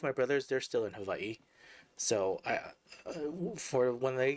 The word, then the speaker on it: Hawaii: originally from Hawaii which some people I know they pronounce it Hawaii but the real word the native Hawaiian pronounce it ha now I have native Hawaiian blood in me so and I like to try to pronounce it correctly so it's pronounced Havi they're in a different